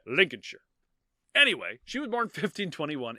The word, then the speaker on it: Lincolnshire: just see a the the Shire at the end of a word it's pronounced sure you just think of New Hampshire so it's Lincolnshire anyway she was born